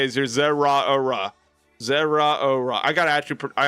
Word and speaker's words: Zeraora: I got to actually I actually got to I got to actually pra practice that pronunciation cuz I've been calling him Zora. He is fast. He is fast. I've been pronouncing Zora.